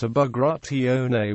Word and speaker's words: Bagrationi: His name in the Georgian language was Pyotr Bagration, pronounced Bagrationi with no significant stress.